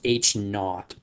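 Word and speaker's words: H₀: see that subscript 0 that's actually pronounced H naught so in this example H naught is our null hypothesis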